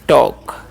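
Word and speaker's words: talk: आई से पढ़ते हैं टॉक यहां पर एल साइलेंट होता है इस बात का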